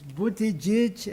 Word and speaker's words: Buttigieg: also a Semitic tongue, the correct pronunciation is Buttigieg and Zara.